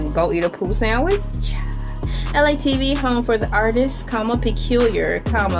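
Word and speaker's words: ELAY TV: LA TV, pronounced like LA, like the city.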